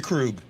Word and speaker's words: Krug: went out and offered krug a deal right i think i said is it kroger krug rug i don't know i say it wrong all the time uh tori krug yes krug he's on your damn